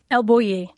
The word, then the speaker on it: El Bulli: You eventually make it to El Buoui. Do you pronounce it the same way? Elui.